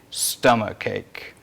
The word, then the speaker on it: stomachache: I have got a stomachache. Stomachache. დააკვირდეთ, აქაც CH იწერება, მაგრამ ზუსტად იგივენერად. Stomach. Stomach, not stomach, but stomachache.